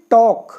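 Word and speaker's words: talk: वाला देखिए तो जैसे के के पहले ल आया है तो ल बिल्कुल साइलेंट मॉक ऐसे ही टॉक ऐसे ही फोक नेक्स्ट देखिए अब आया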